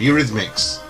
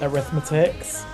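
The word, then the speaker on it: Eurythmics: made of this eraser what they called U rythmics there's um yeah there somebody who asked for this song um at karaoke and they always pronounce it arithmetics giggle arithmetics I love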